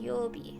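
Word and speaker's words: 曜日: a whole is pronounced yobi with a long yo the first word means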